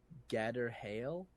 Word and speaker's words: Gadreel: into a Google search gadreel or whatever and yeah it comes from a Hebrew word that's pronounced gather hail and it's literally wall